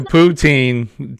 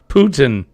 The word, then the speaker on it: poutine: Okay, Jimmy, can we teach you how to say it right? It's like a Say it. cat on chocolate. Poutine. Putin. No, poutine. Putin. You're forgetting the in the middle. Poutine. Putin. Yeah, okay. Did I say it right? Poutine. Putin. It's like almost like, but it's not a.